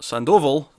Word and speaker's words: Sandoval: writing and rafa sandoval sandoval rather on art i put an extra syllable in there for some reason that didn't sound right no i don't know